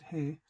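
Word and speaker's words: ה: a bit demo dollars the letter ha or hey this is pronounced hey and it's the letter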